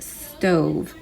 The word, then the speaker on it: stove: you think comes next stove that's o and we have our v now let's go ahead and sound it out and remember the silent e makes the o have a long o sound stove stove now go